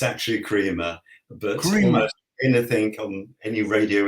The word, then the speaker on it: Kremer: very pronounceable name Quinn mine tends to be pronounced all sorts of ways from Crema to crer to Crea um and it's actually Crea but anything on any radio interview anything almost